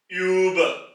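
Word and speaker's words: über: उ है वो हम लेंगे तो यह जर्मन य बन जाएगा यानी कि उ और इससे अल्फाज बनते हैं उ उ यानी के क्लॉक घड़ी इसी तरीके से यूब य यहां पर आवाज फ्लैट हो जाएगी क्योंकि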